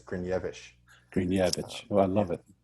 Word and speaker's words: Gryniewicz: i would say it i would say it grenowie's i'd butcher it right but uh but apparently the correct pronunciation is grenievish green yeah i love